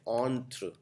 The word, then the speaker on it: entre: Entrepreneur लिखने के लिए ऑन्ट्र, इसको आप, एक कॉमन मिस्टेक ये है एंटरप्रेन्योर, कई लोग लिखते हैं एंटरप्रेन्योर, नहीं ये एंटर नहीं है, इसको बोलते हैं ऑन्ट्र।